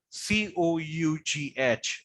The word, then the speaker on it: cough: C-O-U-G-H is cough. Now just imagine the last two words, that is GH, is pronounced as what?